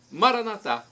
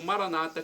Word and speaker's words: Maranata: E Maranatá, como dizemos nós católicos, ou Maranata, como dizem os evangélicos ou protestantes. Não importa a pronúncia, é do aramaico, dialeto